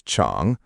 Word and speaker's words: 场: The last syllable is 场, third tone in Pinyin here as 场, but in natural speech, it can feel light.